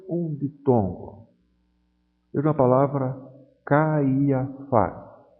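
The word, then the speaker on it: Καϊάφας: Veja a palavra Caiafás. Essas duas vogais, A e I, em princípio formariam um ditongo, mas o trema colocado sobre o iota desfaz esse ditongo.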